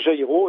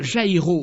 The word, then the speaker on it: Jairo: Alors Jairo ou Jairo pour certains, car en France voilà, c'est ça. En France on ne prononce pas la jota.